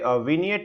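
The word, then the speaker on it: vignette: किया होता है उसे विनियट बोला जाता है, कि वो उसमें कोशिश होती है कि पूरी की पूरी किताब को समझा दिया जाए। इसका जो प्रोनाउंसिएशन है वो थोड़ा सा अलग है।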